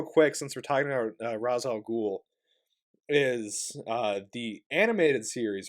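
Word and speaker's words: Ra's al Ghul: they call it and they pronounce it differently they they call him rachel and so in the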